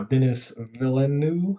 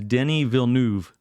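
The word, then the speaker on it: Denis Villeneuve: because the director uh Dennis villanu is that how you say it it's a I had to look it up several times I believe it is Denny vuv one of my favorite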